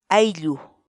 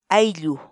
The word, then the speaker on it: ayllu: de vídeos en la que te enseñamos a pronunciar algunas palabras en quechua así que nuestra palabra del día por hoy es hay lujo hay lujo ai lu la palabra quechua haití en español significa familia